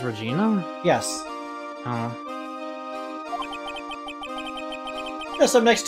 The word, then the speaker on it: Regina: Regina Berry Regina Berry Regina Berry is it pronounced Regina yes oh that's up next to an animal